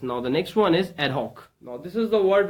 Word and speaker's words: ad hoc: Okay, it is an adjective, and here is the pronunciation ad hoc. It's ad hoc. Okay, or you can say ad hoc.